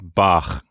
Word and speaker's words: Bach: say ch exactly so one of them is like ich and the other is in the back of the mouth like bach yes so when you